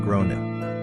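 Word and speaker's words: Gráinne: She asked what I meant and I said, "Well, in Ireland, they typically pronounce it like grown."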